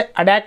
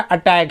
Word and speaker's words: attack: उसके बारे में कि जब भी दो वाउल्स के बीच में AEIOU में से किन्हीं दो वाउल्स के बीच में अगर टी या डबल टी होता है तो उसका उच्चारण डी होता है। तो हम इसे अटैक भी पढ़ सकते हैं। वैसे ये जो अमेरिकन एक्सेंट है उसमें ही बोला जाता है, ब्रिटिश एक्सेंट में अटैक ही पढ़ेंगे इसको।